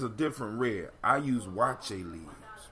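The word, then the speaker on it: waakye: Now it's pronounced wache, but it's spelled W-A-A-K-Y-E leaves. Wache leaves or wake leaves.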